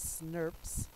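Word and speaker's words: snRNP: like this they actually become sn rnp's which we actually pronounce that as snurps and these are called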